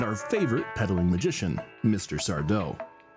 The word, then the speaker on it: Sardo: Sardau. No, mister. Accent on the toe.